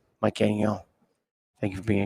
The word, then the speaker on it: Gagnon: You said my name really, really well. Oh, I thank you. No problem, man. I'm Canadian, so I know how to pronounce French.